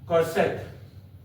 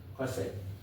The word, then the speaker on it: cosec: Cosec. How to pronounce it? Cosec.